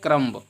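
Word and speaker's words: comb: silent हो जाएगा यहां पर लिखा है करंभ अगर आप पढ़ेंगे सही से तो इसका प्रनंसीएशन निकलता है कम तो कम नहीं होता है बल्कि इसको बी नहीं पढ़ेंगे क्योंकि साइलेंट है एम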